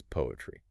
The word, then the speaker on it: PoAItry: And just for clarity, even though it's spelled P O A I T R Y, the project guidance says to pronounce it simply as poetry.